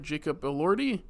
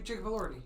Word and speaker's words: Jacob Elordi: Jacob Elordi? Yeah, Jacob Elordi.